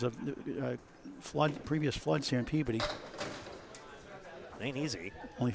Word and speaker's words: Peabody: Please, people, it's not Peabody or whatever else. Peabody. As few syllables and enunciations as possible, please, and thank you.